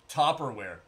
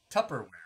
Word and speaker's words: Tupperware: fat pat yep yep made out of tubberware topperwear what's topperwear dude what is that is that how it's spell i thought it was t-u-p-p tupperware is it topper am